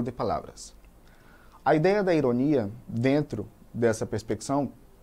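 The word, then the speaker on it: ironía: No espanhol eu digo ironia, com a sílaba mais forte lá no final.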